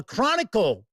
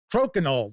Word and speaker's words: Crokinole: There's a Chronicle, or it's Crokinole, that's how it's pronounced.